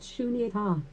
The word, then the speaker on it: Sunyata: Sunyata, pronounced shunyata, translated into English most